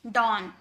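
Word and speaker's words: dawn: यानी कि हो जाएगा यह डॉन।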